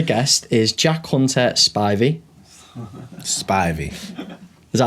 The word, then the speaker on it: Spivey: Spivey. Is that how you say it? Spivey, yeah.